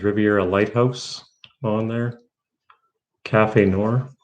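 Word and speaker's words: café noir: a lighthouse on there cafe noor that's how you pronounce it cafe noir yeah the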